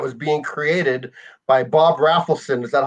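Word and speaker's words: Rafelson: Yeah, they went to auditions to join this band that was being created by Bob Raffleson. Is that how you say his name? Raffleson?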